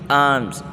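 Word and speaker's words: alms: को हम कहते हैं आर्म्स आर्म्स साइलेंट ल के साथ आर्म्स सड़के को हम कहते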